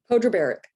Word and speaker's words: Podrebarac: barack how do you say your last name pedro barrick mojo bear okay um i tried um from